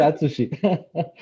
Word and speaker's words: Atsushi: Oui, c'est vraiment difficile de prononcer mon nom. C'est Atsushi.